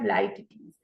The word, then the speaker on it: Litotes: तो this is the pronunciation of Litotes.